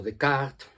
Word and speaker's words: Descartes: Por lo menos desde que Descartes o Descartes, como se pronunciaría en francés, más o menos, escribió una obra fundamental